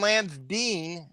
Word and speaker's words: Lance Dean: you compared you and Lance Dean is how you actually say his name it'd be like comp